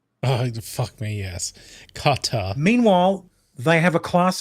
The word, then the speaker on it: Qatar: Well, they do pronounce Qatar as cutter. Oh, fuck me, yes. Qatar.